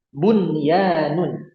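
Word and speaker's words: بنيان: Bunyanun, bunyanun, qinwanun. Kemudian yang terakhir sinwanun. Nah, cara bacanya gimana?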